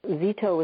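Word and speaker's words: Szeto: And that's Zito is spelled S-Z-E-T-O.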